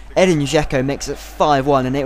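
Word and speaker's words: Edin Džeko: pass it out from the goal kick, and Eden Dzeko, sorry, I couldn't pronounce his name. Edin Dzeko makes it 5-1, and it was just awful.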